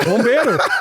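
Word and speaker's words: bombeiro: So I'm not saying it right, but it was Bombero. And the fireman. The fireman. Bombero. You said right.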